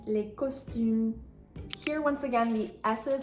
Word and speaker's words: costumes: and then I will give you the correct pronunciation. The correct answer is il achète les costumes.